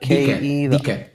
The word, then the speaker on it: Dike: Mattteo, you said you met, and I don't know how to pronounce his name. Is it DK? DIKE. DK.